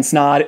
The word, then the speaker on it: Snod: What's up guys, my name is Snod, it rhymes with odd, and welcome to another video.